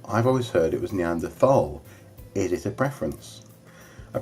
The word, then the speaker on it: Neanderthal: always heard it was Neanderthal it is a preference a preference there is no H sound when it's pronounced in French and German it's something I picked